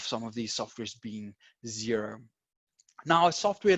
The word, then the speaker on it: Xero: A little bit about Xero. If this is the first time that you are introduced to this software, it's spelled with an X and not a Z.